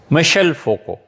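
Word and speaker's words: Michel Foucault: 1926 میں پیدا ہوا، مشل فوکو. فرانسیسی میں ان کا نام ہے، ایسے ہی پڑھتے ہیں. ہم نے پوچھا تھا فرانس میں تو انہوں نے یہی تلفظ کیا.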